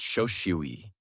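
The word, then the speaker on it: 正思惟: In Japanese, it's pronounced shoshui.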